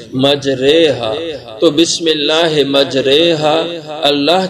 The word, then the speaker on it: مجریہا: نیچے کھڑی زیر ہے، تو عام طور پہ تو اس کو کھڑی زیر کو کھینچ کے پڑھا جاتا ہے، تو اس لحاظ سے اس کا تلفظ یوں ہونا چاہیے تھا مجریہا، لیکن ایسا نہیں۔ یہ قرآن پاک میں ایک موقع جہاں پہ اعمالہ ہوتا ہے، اس کو تجوید اور قرات کے اصول میں اعمالہ کہا جاتا ہے، اور اس کا تلفظ جو ہوتا ہے مجریہا، مجری نہیں اس کو پڑھیں گے، مجریہا۔ تو بسم اللہ مجریہا،